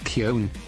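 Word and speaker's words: Köln: gbt Americans pronounced it cologne in Germany we pronounce it Kon yeah but it for whatever reason in English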